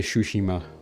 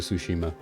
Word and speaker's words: Tsushima: I always say Shushima but I know that's not how it's pronounced and I apologize.